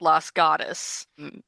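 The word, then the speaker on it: Los Gatos: charming little town called Las Gatas. You do pronounce it like that because it's a bunch of really, really white people living there, not the correct way.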